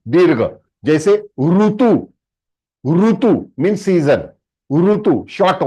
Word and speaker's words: ऋतु: इस तरह प्रोनाउंसिएशन में डिफरेंस है, ये री नहीं है। काफी लोग कैसे प्रोनाउंस करते हैं, रीतु और ऋषि, wrong. It इज not Sanskrit, it is Hindi.